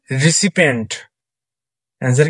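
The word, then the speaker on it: recipient: William Shakespeare identify the word with correct explain মানে কোনটা সঠিক উচ্চারণ হয় রিসিপন্টসার হচ্ছে রিসিপিয়েন্টসার কি রিসিপিয়েন্ট এটা হচ্ছে আরই সি আই পি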